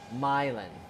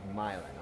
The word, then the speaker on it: Milan: what actually happened um myelin okay with the accent on the my myelin okay slight accents on the the my uh it just says